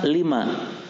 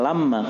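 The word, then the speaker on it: لِمَا: Lima. Di sini bukan lamma. Kalau lamma itu manakala. Lamma manakala. Tapi di sini bacanya apa? Lima.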